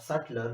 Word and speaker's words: Sutler: is by the name of sutler which rhymes with Hitler is also very interesting